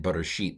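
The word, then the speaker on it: בְּרֵאשִׁית: And that's what happens in bereshit, the first word, because the accent's on the sheet. Sheet is an accented closed syllable, and it's long. Re is a near open syllable, and it's long. But ba is far away from the accent, and it's reduced to a Sheva.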